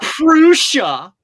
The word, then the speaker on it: Prusa: The Prusa printers usually do fine for utility things, but Prusa pronounce it correctly. He's Czech.